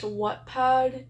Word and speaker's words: Wattpad: It's pronounced Wattpad, dingus.